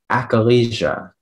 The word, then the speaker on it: achalasia: Achalasia.